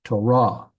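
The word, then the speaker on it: תּוֹרָה: end with ket like Torah Torah is law but that tah it's not it's not Torah it's Torah the emphasis is on the last syllable so that is not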